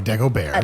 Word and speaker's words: Dagobert: so deoa whato bear sorry Deo bear the tea is silent yes what led you